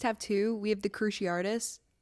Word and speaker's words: Cruciatus: two we have the cruci Aris and or cruciatus I don't know the pronunciation that's right cruciatus um and then the avava